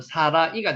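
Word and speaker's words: שָׂרָה: 사라는 히브리어로 발음을 하면 사라가 됩니다.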